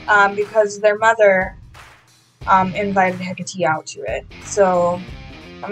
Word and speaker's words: Hecate: her name wrong this whole time um it's hecate not hecate it's spelt like hecate but it's pronounced hecate um so uh we're going to have hecate